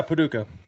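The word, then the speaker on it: Paducah: and Saturday um Boko is that how you pronounce it Paduka yeah Paduka uh Friday night I think this is the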